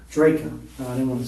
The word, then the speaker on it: Drejka: Interview will be concluded with Michael, pronounce your name? Drejka. Drejka.